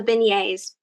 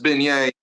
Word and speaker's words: beignets: So I want to go a little bit deeper into the beignets.